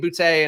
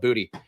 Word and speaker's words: Boutte: Also, I think his name is pronounced Booty. The announcers keep saying it. When he was coming in, I'm pretty sure people were pronouncing it Boutte. So I'm not sure what happened here. But I might be saying Boutte and making it sound pretentious when he is, in fact, calling himself Booty.